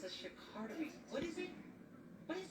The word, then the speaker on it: charcuterie: The correct French pronunciation of charcuterie is charcuterie.